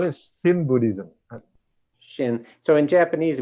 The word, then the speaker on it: Shin: So we just say Shin Buddhism, like Zen Buddhism, very easy to understand. Shin Buddhism, also easy to say. Yes, Shin Buddhism. If you mispronounce, it's going to be a Sin Buddhism.